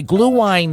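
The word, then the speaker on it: Glühwein: And I gotta say, glue wine is spelled GLUHWEIN, and it's not spelled like I thought.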